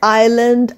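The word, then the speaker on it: island: কমেন্টে লিখে জানাও তাড়াতাড়ি তাহলে আজ আমরা শিখলাম কিছু সাইলেন্ট এস ওয়ার্ডস লাইক আইল্যান্ড আইল ভাই কাউন্ট আইল ডেব্রি বুজুয়া তাহলে আমরা লিখছি এস কিন্তু উচ্চারণ করছি না তো সাবস্ক্রাইব করতে ভুলো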